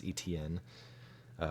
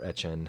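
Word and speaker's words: Etienne: the Jaguars pick 25 Travis etn a or etchen however you want to pronounce it I think he pronounces it at Chen but anywho uh another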